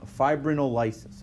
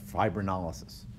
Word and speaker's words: fibrinolysis: and then five Brittain fibrinolysis or fibrinolysis depending if we put the emphasis on the syllable okay so the the